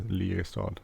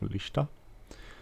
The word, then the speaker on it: Lista: It's a Lierstad, which is not. That's not how you pronounce it. It's Lista.